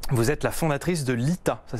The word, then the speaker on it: LITA: Vous êtes la fondatrice de l'ITA, ça s'écrit L-I-T-A.